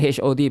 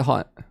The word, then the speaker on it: Hod: I thought it's like HOD because there's like a dot in between, right? But they just call it hot.